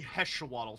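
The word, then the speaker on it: Hexoatl: Yes, so hexawaddle. Hexawaddle, like axolotl. Okay, I wasn't sure. Actually, it should be heshawaddle technically.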